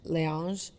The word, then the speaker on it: Laneige: How do you pronounce that? Laneige. Laneige.